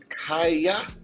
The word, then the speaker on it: Kia: It's pronounced like Kaya.